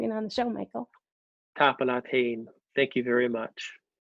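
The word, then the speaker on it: tapadh leat: Okay, so I said Tapalat.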